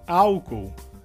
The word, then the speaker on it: álcool: Em português seria álcool. A diferença então seria que em espanhol a sílaba forte seria ol. E em português seria a sílaba inicial que seria ao.